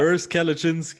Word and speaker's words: Urs Kalecinski: Urs Kalecinski.